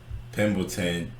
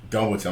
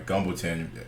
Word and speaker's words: Gumbleton: Obviously, Pimbleton. How do you say his damn name? Gumbleton. I'm sorry, Gumbleton.